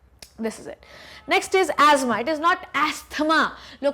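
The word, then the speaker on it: asthma: Okay, चलो next is थ जो होता है ना वो साइलेंट होता है एस्थमा में।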